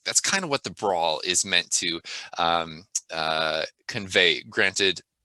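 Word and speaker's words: Branles: The fourth movement, sorry, is it looks like Bransels, but it's actually pronounced brawl, and it is a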